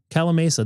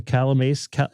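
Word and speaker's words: Calimesa: The Calamasa? Is this how you say Calamasa? Cali Mesa? Not Cali Mesa. Cali Mesa. It's like California, I believe, but Mesa.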